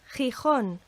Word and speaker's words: Gijón: And this forms a sound that does not exist in English, but it's the sound of the CH in Scottish Loch, or the German surname Bach. And imagine the sound of getting a fly out the back of your throat. My Spanish teacher when I was at school told me, but make it less harsh.